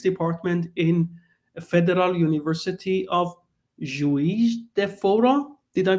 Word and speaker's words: Juiz de Fora: Gregory is a dear colleague in mathematics department in Federal University of Juiz de Fora. Did I pronounce well?